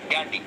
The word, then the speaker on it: Ghandy: अंग्रेजी में वो गांधी नहीं गैंडी लिखते थे, जिसकी स्पेलिंग है GHANDY, गैंडी।